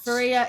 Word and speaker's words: Feria: Welcome to Feria. Hi, thank you very much. I mean, Feria is pronounced like Maria, but with an F.